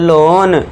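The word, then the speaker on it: loan: जब वर्ड में ओ ए आए तो ओ ए को ओ से साउंड देना है। ओ ए के लिए साउंड क्या देना है? ओ का साउंड देना है तो इसे क्या पढ़ेंगे? र ओ ड रोड ल ओन लोन road लोन लोन road eighth देखिए जब वर्ड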